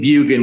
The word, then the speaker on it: Bjugan: last name bugan which is b as in boy j u-g-a-n so bugan the jay is silent i'm saying bugan bugan vestrite v-e-s-t-r-i-g-h-t